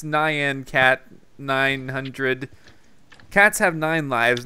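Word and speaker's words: Nyan Cat: in front of me I guess I was pronouncing it wrong he says it's Nan cat 900 cats have nine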